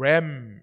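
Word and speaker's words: lamb: 그래서 이 램, L로 시작하는 이 램, 여기 B는 묵음이고 이건 어린 양이고, 램 이것은 숫 양입니다.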